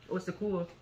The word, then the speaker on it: au secours: Au secours. So that's what he was saying. Yeah. Au secours, au secours. So that's like how many syllables? Three syllables to say help for one syllable.